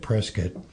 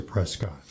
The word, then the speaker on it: Prescott: So they started pronouncing it Prescuit and the people that supported King George and the Tories continued to pronounce it Prescott which gave it was a code in many ways to know who you're talking to based on how you're pronouncing their name.